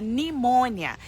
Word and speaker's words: pneumonia: porque que é pneumonia tem o p lá mas você não pronuncia P você fala nimônia então eu tinha que